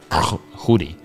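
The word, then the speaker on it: Tschudi: was like t-s-c-h-u-d and if i know how swiss germans pronounce it something like hoodie but he was a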